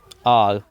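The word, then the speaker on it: hour: आर, honest, ऑनर। आर में H silent है, और आर ओ की आवाज़ आ गई है, एन लगा दिया।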